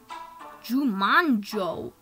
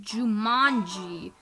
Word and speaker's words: Jumanji: Jumanjo. It's pronounced Jumanji, little twit.